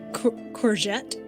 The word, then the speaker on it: courgette: the correct way uh as far as I know it's courgette oh so I said it right yeah it's from the French okay I thought it